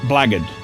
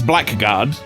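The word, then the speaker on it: blackguard: That is not blackard. That's black guard. Black is a word. It's spelled B L uh B L A G G A R D.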